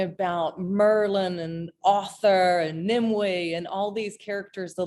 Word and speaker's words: Nimue: It's actually it looks like Nim it's actually Nimue. We look like Nimue, but it's a Cornish name. So, of course they they pronounce things a little differently, but it's Nimue.